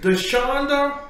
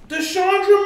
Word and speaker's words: Dashondra: Without any further ado, we have Miss Dashondra. You're going to have to redo it because that's not how you pronounce my name. Dashondra. You left the R out of Dashondra. You said Dashondra.